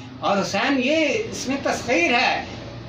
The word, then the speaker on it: حسین: ان کی رائٹنگ بھی۔ حسین، حسن HASAN، حسین HUSAIN، بلکہ عرب تو EIN، کیونکہ حسین نو یا کو گہرا پڑتا ہے۔ علیہم نے، یہ فاضلانہ تلفظ نہیں ہے، یہ متجاہلانہ تلفظ ہے، اس لیے یہ بھی اسی کے تحت حسین گہرا تلفظ کریں اور اس کے